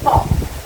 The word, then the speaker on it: talk: Talk. Dari asal katanya itu talk. Tulisannya aja talk. Tapi bacanya o-nya a a-nya berubah menjadi talk. Agak panjang. Talk. Jadi l-nya tuh titik dua.